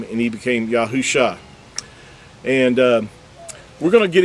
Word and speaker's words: Yahusha: He changed it to Yahusha. All he did was add the letter of the Creator's name, the first letter of the Creator's name, the letter Yod, and then Husha became Yahusha. Do you see that? Yahusha. He didn't become Yahushua. There was no UA added in this text here.